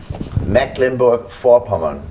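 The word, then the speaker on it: Mecklenburg-Vorpommern: want I want you to tell him just pronounce the the name mecklinburg for porman M Linberg for okay that's how it's supposed to be said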